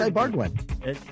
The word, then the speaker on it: Ibarguen: Man, why can't I remember how to pronounce this guy's name? Ed Ibarguen. It's Ibarguen.